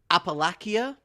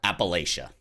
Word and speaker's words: Appalachia: they are in the oh here we go apalachia emergence is that the correct way to say that Appalachia Appalachia okay certainly not like I'm British and